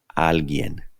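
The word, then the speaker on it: alguien: little difficult to pronounce if you just slow it down at first Al alen here's a sample sentence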